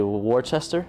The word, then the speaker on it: Worcester: I'm gonna say Worcester. It's pronounced Worcester.